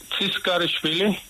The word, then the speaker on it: Tchrikishvili: Chikrisvili. Mr. good morning. Good morning. What is the correct pronunciation of your last name? It's Tsiskharishvili.